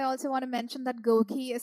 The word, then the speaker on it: GOQii: rewards and I also want to mention that Goki is spelled g q i i i so that's